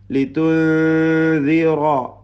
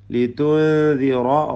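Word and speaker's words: لِتُنذِرَ: ലിതുൻദിറ സുക്കൂൻ നൽകപ്പെട്ട നൂനിനെ മണിക്കണം. ഇഖ്ഫാ അവ്യക്തമാക്കി മണിച്ചോതുക. ലിതുൻദിറ റായിന് പൂർണ്ണമായ തഫ്ഹീം കൊടുത്ത് തടിപ്പിക്കണം. ഖൗമൻ ഖാഫിന് പൂർണ്ണമായ തഫ്ഹീം.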